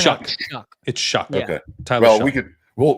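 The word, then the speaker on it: Shough: coming out of Lille isn't it shuck shck I've heard heard it's shuck Okay Tyler we could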